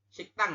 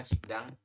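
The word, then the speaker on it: 식당: Siktang ini adalah Siktang ya, dibacanya bukan Sikdang. Seperti itu, Yorobun.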